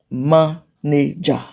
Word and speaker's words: manager: So if you have 3 syllable words ending in suffix er and ly, they're usually stressed on the first syllable.